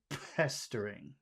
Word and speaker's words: pestering: say Bing uh I I wish that you would spit more at the beginning of that word and say pestering best string yeah I guess that's